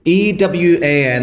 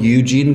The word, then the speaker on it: Ewan: E-W-A-N is how I spell it. There's E-W-E-N. And then there's E-U-E-N. And then you could do phonetically. So Y-O-U-W-A-N. Yeah, Ewan. And then Ewan or Ivan. Or I get called Eugene quite a lot.